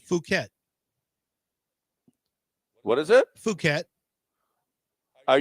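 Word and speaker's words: Phuket: Here is the the monk is from You tell me how to pronounce this. P Hu K T. Fuket.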